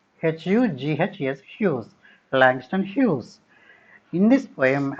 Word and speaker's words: Hughes: The pronunciation is, please be careful, this is not Hughes. This is Hughes. H-U-G-H-S, Hughes.